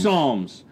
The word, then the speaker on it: psalms: It was Psalms. And do you know what it rhymes Psalms with? palms, bombs. bombs.